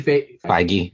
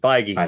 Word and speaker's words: Feige: Could it all be Feige? Feige.